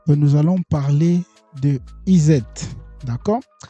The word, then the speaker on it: ESET: ESET Je sais pas comment vous allez Moi, je le prononce ESET, ? Français. Parce qu'il y a E, il y a S et puis il y a E encore, S et au milieu de deux deux deux voyelles.